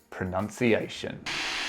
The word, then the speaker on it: pronunciation: you how useful it can be with the word pronunciation so pronunciation can be a little bit of